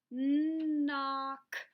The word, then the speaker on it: knock: you did did you Circle that KN remember it says mmm and then the O is short so we put the little smile above and then C cake in duck CK so let's try to